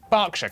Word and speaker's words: Berkshire: ER is pronounced R. Berkshire, Clerkenwell, Hertford.